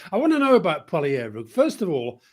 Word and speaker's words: Poilievre: He doesn't use the h. So Poilievre. Poilievre.